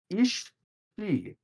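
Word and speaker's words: aos sí: Okay, so this is a funny word, and I'm glad that Kirby printed it out in phonetically. Ishi, spelled AOSSI.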